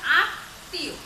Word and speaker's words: আত্মীয়: এটা এটা মনে হচ্ছে এটা দন্তনের মতো, তো আত্মীয় উচ্চারণ আমাদের আত্মীয়। দেখো খেয়াল করো, এই যে ত বর্ণের সাথে মফলা যুক্ত হয়েছে, এই তর উচ্চারণটা দুইবার হতে আছে, দ্বিতীয় উচ্চারণ হচ্ছে।